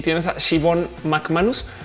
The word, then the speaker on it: Siobhan: Siobhan, de hecho, si la vas a googlear, su nombre se escribe Siobhan, pero se pronuncia Siobhan porque pues nombres europeos.